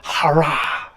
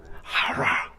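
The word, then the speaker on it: חָרָה: 하라. 예. 제가 이거를 아침에 막 연습을 했거든요. 하라. 예. 그 센 H 발음, 센 CH 발음, 하라인데 우리 한국말로 화나하고 비슷하지 않습니까?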